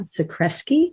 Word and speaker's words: Zakreski: really interesting conversation our guest is dr matt socreski did i pronounce that right you got that right excellent